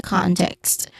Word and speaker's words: context: Pronunciation wise, in the context, con is the stressed syllable.